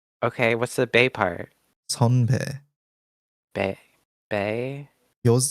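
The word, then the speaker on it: 선배: So sonbae. I'm reading it in my mind as the Roman characters, which is bay. Yeah, I know now it's pronounced bay.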